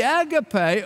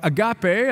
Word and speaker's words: agape: tells us about here the AGGA pay or agape are some pronounced it is not that self seeking